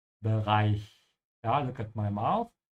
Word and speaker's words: Bereich: Again here the ch is after an I so make sure your mouth is open at the end when you say Bereich.